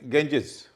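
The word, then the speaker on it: Ganges: गेंजिस, जी के बाद ए है, पहले जी का उच्चारण ग हो रहा है, अगले का ज हो रहा है, क्योंकि उसका ई है।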